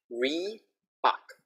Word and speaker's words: Reebok: So now make sure you get the Re versus the Li. So these are good ones to practice together. Li, and then this one, Reebok. La, la, Li, Re. Can you see my mouth? It's quite different.